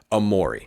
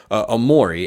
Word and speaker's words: Omoruyi: them get is Cliff Amore so this is this guy's name is spelled like Eugene Omari we all remember Bill